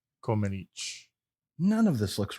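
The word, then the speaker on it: Comăneci: I found a Romanian guy who pronounced it correctly, and he said Comenici.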